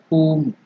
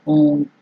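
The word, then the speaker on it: हूं: H U elongated yam. So dirgha, whom, or whom. That is the pronunciation.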